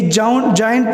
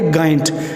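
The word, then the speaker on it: giant: तरह वर्ड है जाइंट तो जाइंट में देखो जी के बाद आई है तो ये जाइंट प्रोनाउंस होता है ना कि गांट इसी तरह अगर जी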